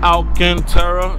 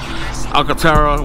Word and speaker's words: Alcantara: interior yeah so guys this is Alcantara it's called Alcantara so most of you guys be calling it some Alcatel whatever it no out cancer okay you gotta say it right you see that scat